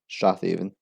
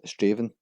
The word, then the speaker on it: Strathaven: This is a small town in Lanarkshire, often mispronounced as Strathaven. It's actually pronounced as Straven.